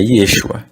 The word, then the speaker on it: Yeshua: A transliteração dessa escrita aqui, ó, é Yeshua, no português.